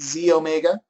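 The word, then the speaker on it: xEO Mega: one is the E it says XE Omega okay but we pronounce it Z Omega and this is your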